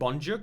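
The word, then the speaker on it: Boncuk: the ambulance, and then Bonkuk ran after. 3-4 günden beri de hastanenin kapısından ayrılmıyor. Evden kaçıp buraya geliyor kendi başına. It's pronounced Bonjuk.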